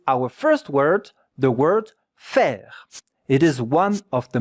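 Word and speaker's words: faire: F A I R E. In French, F A E. The two letters here make the sound E.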